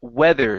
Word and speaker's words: weather: the word weather so this is going to be a short e sound here instead of wither wither is a is a different word so it's e weather with uhuh one more time e weather weather okay good um let's go